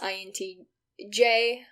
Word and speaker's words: INTJ: The channel name is actually pronounced INTJ. You see it's an acronym. It came from the MBTI test.